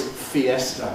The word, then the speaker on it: fiesta: And so is fiesta, by the way, exactly in parallel.